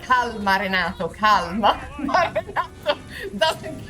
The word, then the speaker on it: calma: Calma, Gina, calma. No. Never mind. Okay. Whoa. Oh, wait, you pronounce the L in calm.